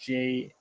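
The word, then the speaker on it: JROTC: junior Reserve officer training corpse the jrc commonly pronounced jroc is a federal program sponsored by the United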